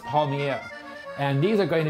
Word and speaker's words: palmiers: be also making um which are the polymers was what we call them but it's pronounced palmiere and these are going